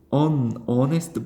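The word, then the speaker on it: honest: 어느 xt 가 되는겁니다 h 는 묵음 이기 때문에 발음은 꺼내서 이렇게 하는 거죠 pers 아니면 키 키 써머레스트 아님 희선 어레스트 보에 이렇게 쓰면 되요 이것도 무덤 이기 때문에 어니스트 거의 이런식으로 쓰실 수 있다라는 거죠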